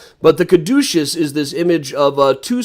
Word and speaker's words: caduceus: lot of these stylized versions of the catasys which i'm uh caduceus i never pronounced that right on the first try but the caduceus is this image of